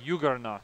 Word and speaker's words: juggernaut: All right, and a Juggernaut. I believe that's how that's pronounced. A soft J.